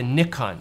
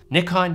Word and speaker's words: Nikkor: live in the world, there is no wrong way to say it. It's all about how you pronounce these certain letters. Nikkor, Nikkor, or Nikkor.